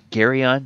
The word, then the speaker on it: Geryon: and that monster is gary on uh gary on that is the way it is pronounced i went to the